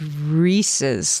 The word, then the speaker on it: Reese's: It's Yeah, it's Reese's. Like, it rhymes with pieces.